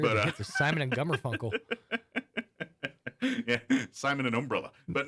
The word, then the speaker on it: Garfunkel: out and hear the hits of Simon and Garfunkel. Yeah, Simon and Umbrella. But no. We I heard you stumbled over it a second ago, and I'm like, I really wish that guy's name was Gummerfunkel.